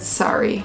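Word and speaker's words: Surrey: suri suri suri suri sorry sorry sorry so it is a little bit different we said suri but she said sorry oh this one is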